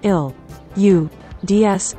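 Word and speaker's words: القدس: In Arabic, Jerusalem is most commonly known as, transliterated as Al-Quds and meaning, the holy, or, the holy sanctuary. It is pronounced, il-u-ds, in Palestinian Arabic.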